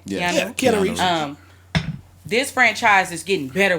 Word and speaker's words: Keanu Reeves: Am I pronouncing his name right? Yes. Yeah, Keanu Reeves.